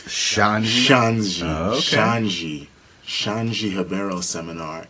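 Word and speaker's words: Xande: Or I would go to a Shanji, because he scolded me and DJ for getting his name wrong at Worlds. So it's Shanji? Shanji.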